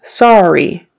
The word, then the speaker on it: sorry: Okay, the word sorry. It's spelled with an O-R-R-Y, but it kind of sounds like an A-R. Sorry, R-R, sorry.